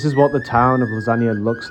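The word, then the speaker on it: Lazanias: It's called Lasagna. Lasagna. Sounds exactly like lasagna, like the food, but it's spelled L A Z A N A I S.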